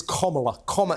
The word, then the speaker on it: Kamala: in Nowa sorry no it's actually it'sa it's comma it's like that a okay I think M